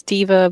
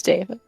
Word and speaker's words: deva: Some would pronounce diva, but it's deva.